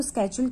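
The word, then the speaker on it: schedule: Actually स्केड्यूल का जो IPA pronunciation होता है, ठीक है, यानी कि जो ब्रिटिश आईपीए प्रोनाउंसिएशन है शेड्यूल का, वो स्केड्यूल्स है, ठीक है। और जो हमारा इंडियन प्रोनाउंसिएशन है वो शेड्यूल है, तो इसलिए मैं इसको स्केड्यूल ही बोलती हूँ।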